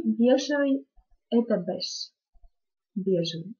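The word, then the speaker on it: beige: морадо и бежевый это Беш бежевый Беш это слово иностранного происхождения поэтому оно произносится совершенно не по испанским правилам Если Вы говорите об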